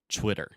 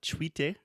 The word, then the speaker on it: Twitter: So the first sound, you're actually still making that CH, the ch, when I say chwi, but I'm adding the W sound at the end. So I'm making a circle with my mouth and saying Twitter. Nice. And so Twitter, this is full of linguistic knowledge. So Twitter, it's not tweete, it's chwi, the sound,